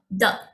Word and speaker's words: 的: We pronounce it fast and light, like the.